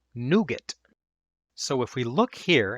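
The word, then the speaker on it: NuGet: Packages innet ecosystem are added by a piece of software called Nougat.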